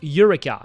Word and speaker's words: Eureka: I guess if you read it literally you would read you would read a but it's pronounced ureka you know.